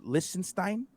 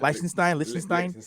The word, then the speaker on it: Liechtenstein: And then LCX is the first regulatory compliant exchange, and they're based out of Liechtenstein. I never know if I say it correctly. Yeah, Liechtenstein, yeah.